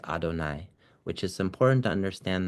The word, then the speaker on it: Adonai: Um and then there is a time that is illuminated by the name Adonai Yud Vave which we pronounce as Adonai which is important to